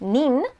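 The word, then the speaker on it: 人: easy elementary level kanji hito means person but if it's a suffix um it can be pronounced nin also means person so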